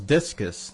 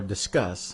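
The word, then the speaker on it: Disqus: that's uh that rivals discus or discuss however you want to pronounce it people pronounce it discuss because you're discussing things but I like to say discus because I want to be mean anyway I installed intense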